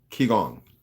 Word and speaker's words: Qigong: Qigong, that's how it's pronounced.